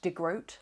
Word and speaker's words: DeGroot: The first thing we learn from the receptionist is that it's pronounced De Groot, like goat, which is disappointing.